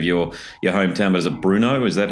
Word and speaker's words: Brno: And forgive me if I mispronounce the name of your hometown, but is it Brno? Is that how you pronounce it? Brno, yeah.